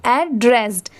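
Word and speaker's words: addressed: बस यहां पर लास्ट में ए डी लगने की वजह से इसे हम क्या प्रोनाउंस करेंगे? एड्रेस्ड। ठीक है? लास्ट में ड की साउंड जरूर आएगी।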